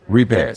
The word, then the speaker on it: Repass: Repass. Yes, sir. How you spell it? Repass. R-E-P-A. Yes. I couldn't tell whether it was a T on it. I know, it sounds like repassed, yes.